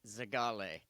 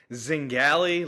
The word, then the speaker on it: Zingale: and we got John Zagali. Did I pronounce that right, John? Nope. That's okay. Uh it's Zing Zingali like rally or valley.